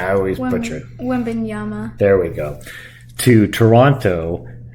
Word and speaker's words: Wembanyama: San Antonio would have traded Victor Wembanyama, or however you pronounce his name. I always butcher it. Wembanyama.